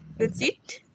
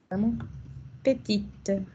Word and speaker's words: petite: Acuérdense que en el masculino, no decimos la última letra, y al ponerle el femenino, solo recorremos el sonido. ¿Qué le le femina? Que... Petite. Petite.